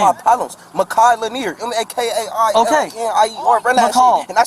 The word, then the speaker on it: Makai: It's not Okay, McCall. It's stop. Makai. Sorry, Makai. Makai. I don't like that. Don't say my name wrong. M-A-K-A-I. Makai. Makai.